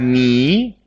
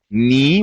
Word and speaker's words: knee: and uh we have knee knee what is knee this is also part of your body me but K is silent yes that's right thank